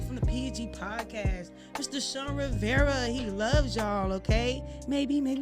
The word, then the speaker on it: Shawn Rivera: You could find me at Shawn Rivera, like it sounds, is how it's spelled.